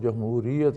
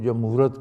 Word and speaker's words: جمہوریت: ہیں تو ان سے صحیح تلفظ جمہوریت ادا نہیں ہوتا، کوئی جمہورت کہتا ہے اور کوئی کچھ کہتا ہے، کوئی کچھ کہتا ہے۔